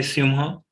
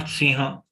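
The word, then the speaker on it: सिंह: Simha. Here, automatically the simu, our lips will get folded to round version. Simha. When we say simha, not siha.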